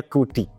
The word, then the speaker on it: CUDY: Tulisannya CUDY, tapi bacanya Kudi.